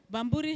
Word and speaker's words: Bamburi: Bambburi has three syllables.